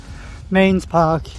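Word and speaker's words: Mesnes Park: Mains Park, even though it is spelt Mesners or whatever, Mains Park.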